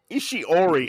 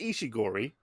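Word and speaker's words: Ishiguro: you butchered his name it's nobro ishigori ishi ishi Ori I can't read it's ishiori the prince it's ishigori uh the print was just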